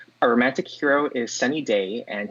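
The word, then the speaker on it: Dae: Our romantic hero is Sunny Day, and his last name is spelled D-A-E, who is a self-proclaimed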